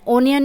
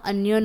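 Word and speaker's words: onion: I have an अनियन ओनियन नहीं होता अनियन होता है तो अनियन का पहला साउंड क्या है अ तो अनियन एन नेक्स्ट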